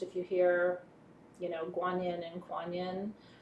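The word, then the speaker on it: 觀音: So I say Quan Yin because that's how most people, especially in the West, tend to pronounce it. But if you talk to someone from China, they will refer to her energy as, or the avatar as Guanyin.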